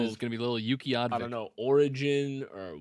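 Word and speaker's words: Utqiaġvik: Utqiagvik. Utqiagvik. That's a beautiful name. That's the next kid know. I'm having is going to be little Utqiagvik.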